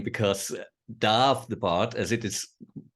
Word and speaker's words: Damh: stage name it's always a stag name because Darth the part as it is pronounced correctly in Gaelic means also stack it's